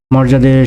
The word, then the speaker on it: মর্যাদা: মর্যাদা, মর্যাদার সঠিক প্রমিত উচ্চারণ হবে মৌকার, রয় হসন্ত, বর্গীর জয়াকার, দয়াকার, মর্যাদা।